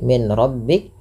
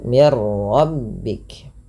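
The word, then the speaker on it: مِنْ رَبِّكَ: Nah, ini ada nun sukun bertemu dengan ro yaitu cara membacanya masukkan bunyi nunnya. Tadi tidak dibaca lagi min rabbik tapi dibaca dengan mirbik dengan memasukkan bunyi nun.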